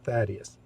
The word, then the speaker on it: Thaddeus: First, this highly important question: how is Thaddeus pronounced? I just told you, Thaddeus.